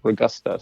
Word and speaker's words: Ragosta: Yeah, the pronunciation almost sounds like Ragosta. So it's like, it almost seems like there'd be a different vowel in there. But yes, it's an O, I swear.